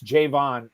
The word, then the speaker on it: Jayvon: on X today that the Patriots media guide says you pronounce Jayvon as Jayvon and not Javon like I've been doing it this whole time which sounds weird but